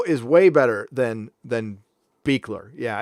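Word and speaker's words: Buechler: it's it looks like bugler Bueller but it's pronounced beekler on the west coast it's pronounced bugler on the East Coast I don't know why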